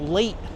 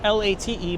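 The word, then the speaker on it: Laight: nobody ever talks about late Street not l a t e but l a i g HT I guess that's how you pronounce it late a light who knows we are making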